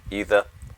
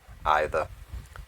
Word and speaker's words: either: either or either um people pronounce it different ways either either but it should be